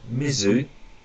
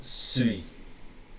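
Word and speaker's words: 水: Now that's either mizu, or sui.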